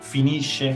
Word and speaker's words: finisce: Fíjense la pronuncia en el caso de la SC continuada de una vocal dolce. Finisce, finisce. En el caso de una vocal dura, como la letra O, finisco, finiscono.